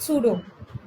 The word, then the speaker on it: pseudo: Whenever you pronounce it pseudo. P used to be silent.